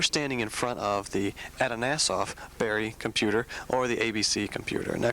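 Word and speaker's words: Atanasoff–Berry Computer: Now, can you tell us what is that? And did I say it right? Yes, you did. Congratulations, Brett, because it is a tongue twister.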